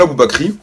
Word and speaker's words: Aboubacry: Je m'appelle Aboubakry. Alors mon prénom s'écrit A-B-O-U-B-A-C-R-Y.